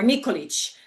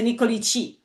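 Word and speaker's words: Nikolić: So you have like Ilic or Nikolic. There was a Nikolici or Ilici because they don't have syllable ending in ich in their language.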